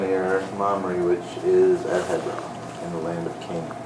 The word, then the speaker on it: Hebron: buried there and uh you pronounced hebron wrong it's hebron okay yeah you got to get a little flam out anyway there you go chapter 24.